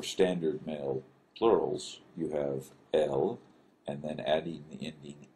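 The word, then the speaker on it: אל: that is the term El. Here again is the aleph with the vowel attached to it, El.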